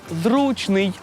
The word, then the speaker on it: зручний: майже ніхто не угадав адже наголос у цьому слові на перший склад зручно запам'ятати зручно значить